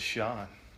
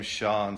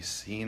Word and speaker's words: Sean: And growing up with the name Sean, spelled S-E-A-N, people called me Scene a lot because they didn't know how to pronounce Sean.